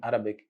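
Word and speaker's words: عربي: We will say Arabi, Arabi, Arabi, Ghein, Arabi.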